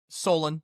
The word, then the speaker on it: Solon: Is that how you pronounce that? Solon? Or is it Solon? Solon.